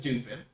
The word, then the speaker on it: Dupin: Detective Dupin, a great name, 10 out of 10 name. That way on purpose? I believe so. It's not the way it's pronounced. It's not It's pronounced Dupin. It's French. really.